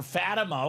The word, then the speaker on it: Fatima: Fatima. There you go. Fatima, just like the high school. Fatima High School.